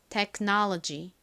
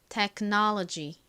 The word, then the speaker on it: technology: 자 그런데 한국식으로는 테크놀로지이지만 미국식 영어 발음으로는 어떻게 발음이 되나요이 오 부분이가 아니라이 단어에서 첫 번째 오는 아 소리가 나고 두 번째 오는 어에 가까운 소리가납니다 그래서 와 같이 발음이 돼요 뒷부분이 놀로지 보다는 지와 같이 발음이 됩니다 technology이 단어는 어려워서 발음